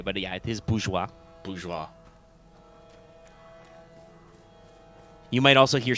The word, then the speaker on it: bourgeois: way easier to say but yeah it is bourgeois bourgeoisie you might also hear some people say bourgeoisie bourgeoisie like bonjourno sheila's stuff this is mine thank